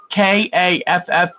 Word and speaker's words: Kaffe Fassett: Kaffefassett. It's Kaffe Fassett. A woman at a quilt shop one time told me, think of safe asset. You'll always say it right.